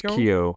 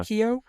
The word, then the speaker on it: Keough: I think it's Keough, yeah. Keough.